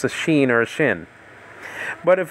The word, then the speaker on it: Shin: It says over here, Shema is spelled out Sheen. Leonard Nimoy, Mr. Spock from Star Trek, used to call it Shin, not She.